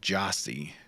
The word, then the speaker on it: Gyasi: him and he's incredible it's g-y-a-s-i but it's pronounced Jossie okay he's from West